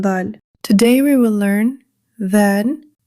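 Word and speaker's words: ذال: Today, we will learn zaal, raa, zaa. Let's begin our first letter. This is zaal. The articulation of zaal is the tip of the tongue touches the edge of the upper front teeth.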